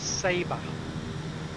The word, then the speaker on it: Saba: they tell us that the correct pronunciation is sabre the island we're going